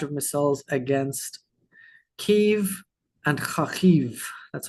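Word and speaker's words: Kyiv: Russia has launched a barrage of missiles against Keev and Khiv. That's how you pronounce Khiv.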